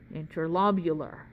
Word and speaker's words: interlobular: interlobar arteries and veins they are literally two letters off from one another and one of them has an extra syllable because of those two letters so interlobar interlobular right literally this one